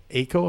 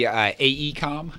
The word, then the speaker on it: AECOM: It's a project by a company called AECO, if I'm pronouncing that right? It's actually AECOM.